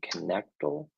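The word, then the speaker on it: Knechtle: How do you pronounce his last name? Connectal?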